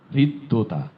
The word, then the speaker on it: হৃদ্যতা: হৃদ্রতা, ঠিকই হৃদয়ের মতোই হৃদ্যতা, হৃদ্যতা, দ দুইবার হবে, হৃদ্যতা।